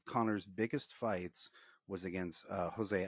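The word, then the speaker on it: José: One of Connor's biggest fights was against Jose Aldo, or Jose. Yeah. You pronounce the J in the Brazilian Portuguese, against Jose Aldo, right?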